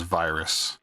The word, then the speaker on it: Vyrs: It's V Y RS. It's pronounced as virus.